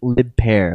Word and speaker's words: lip pair: that far all right lip pair is the next entry pronounced lip pair like grow a pair uh it's Michael's term